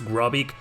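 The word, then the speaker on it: Grobyc: Gropic, you know, it's a cyborg pronounced backwards, Gropic.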